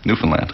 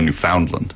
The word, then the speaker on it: Newfoundland: How did I say it? Newfoundland, the right way. Most people say Newfoundland that aren't from there, right? Get it right, people. Come on.